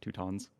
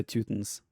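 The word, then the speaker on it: Teutons: win for two tons two tons is that how it's pronounced in english yes two tons two tons i would say twothens don't call them the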